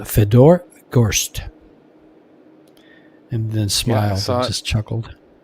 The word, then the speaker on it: Fedor Gorst: How do you pronounce your name? And Feder goes, Fedor goes, Fedor Gorst and then Smile just chuckled.